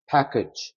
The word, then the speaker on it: package: 자, 여기 가만히 보시면 여기도 A가 들어가고 여기도 A가 들어가는데 발음이 여기에 강세가 들어가기 때문에 여기가 에 사운드가 되고 얘는 특이하게 여러분 이거는 E 사운드로 나옵니다. package.